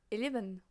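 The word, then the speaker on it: onze: This time you hear the Z, and you have an E at the end to be like, you have to pronounce the Z as a the, 11. You need to pronounce the whole word.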